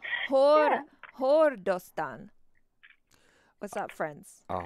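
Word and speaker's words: ਹੋਰ: But they will just say the word whore. Huh? Hort. Whore? Like a whore? Whore. Whore. Whore. It just means what's up. It's H-O-R. So it sounds like the word whore.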